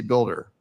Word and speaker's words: BLDR: okay and what is do you pronounce it as BLDR or do you say builder sometimes this sometimes